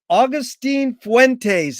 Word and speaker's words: Agustín Fuentes: It's an honor and a pleasure to be here with Agustín Fuentes. Is that the correct way to pronunciate that?